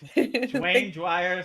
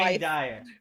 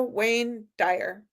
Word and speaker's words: Wayne Dyer: Wayne Dyer. Is it Wayne Dyer? Yeah, with a W. Wayne Dyer.